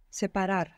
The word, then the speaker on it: separar: Separar. Good, separar. So in English, what we pronounce is separate, maybe like an E sound. But if you look at how it's written, it's an A.